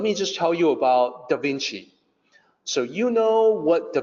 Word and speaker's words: Da Vinci: They did not know that the C was supposed to sound like CH.